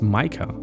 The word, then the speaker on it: Mika: But Mika, I always thought, well, I wanted to spell it like that, but I thought it was pronounced Micah. If you spell it like that.